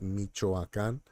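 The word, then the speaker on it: Michoacán: and raised in Michoacan so it's Michoacan uh it does sound like Michigan and a lot of times I use Michigan as a reference so they're like just think about Michigan and then when you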